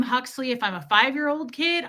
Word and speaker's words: Huxley: It's easy to pronounce unless you're weird and you're like, what? Hoxley? Well, oh my God. We had a neighbor growing up that called him Hugsley, like Pugsley, but Hugsley.